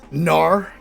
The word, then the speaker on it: Gnar: I'm gonna Gnar in the guard. I assume the G is silent.